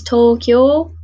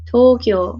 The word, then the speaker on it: Tokyo: is where you can really tell if you're pronouncing your your Japanese cities right but of course most famous one is Tokyo Tokyo so it's actually as a long sound